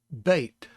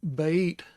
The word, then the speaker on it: Bet: b y t yod the bait has a dot in it a dagesh so that makes it the plosive sound so it's the ba sound not the ba so